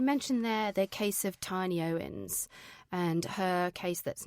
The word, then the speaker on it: Tini: It's actually pronounced Tini.